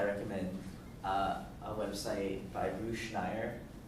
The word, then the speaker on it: Schneier: Yes, For those of you who are interested in security studies, I recommend a website by Bruce Schneier called Schneier on Security. It's spelled SCHNEIER.